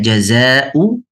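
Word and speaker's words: جزاء: Jazul kafirin. Jazu. Namun apabila dia ayat Al-Qur'an maka kata jazau harf atau huruf zai harus dibaca dengan cara baca mad wajib muttasil yaitu empat atau lima harakat.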